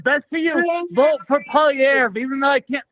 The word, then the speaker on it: Poilievre: It's Poilievre, and there's only in Quebec that we can say it correctly.